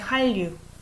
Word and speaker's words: 한류: hard to say 한류, so it becomes like 한류.